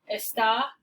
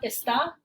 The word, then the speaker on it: está: There's a difference in meaning between está and esta. In this case, it changes pronunciation as well. Esta, está, esta.